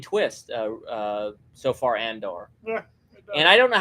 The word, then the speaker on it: Andor: that British guy says says it differently than he he says it like with an e it's it's or like Endor so Andor it should be Andor the way it's spelled but that British guy